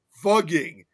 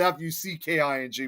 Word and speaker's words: Fugging: And now it's pronounced as fugging. which is Fugging, not Fucking before.